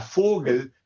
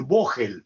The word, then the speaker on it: Fogel: mujer judía eh Débora Fogel, que seguramente al leerlo los argentinos muchos van a decir voel, pero por favor pronuncien bien fogel que quiere decir pájaro.